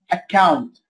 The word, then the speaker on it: account: طيب لو حرف سي جاء مكرر وبعده باقي الأحرف كلها، ينطق زي الكي، account، accuse، accuse يعني ايه؟